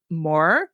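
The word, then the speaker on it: Moher: And then countryside, I didn't get into so much detail, but there's like the cliffs of Mo, I guess that's how you say it. M O H E R.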